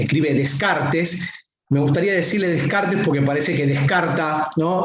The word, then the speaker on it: Descartes: Bueno, con René Descartes, como dije, que se pronuncia así, se escribe Descartes. Me gustaría decirle Descartes porque parece que descarta, ¿no?, a los demás seres con alma.